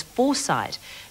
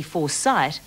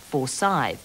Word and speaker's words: Forsyte: spelling and the pronunciation the characters pronounce their name as foresight john goldsworthy's novel is spelled for sight with a t so it does appear to be foresight not forsythe so if you want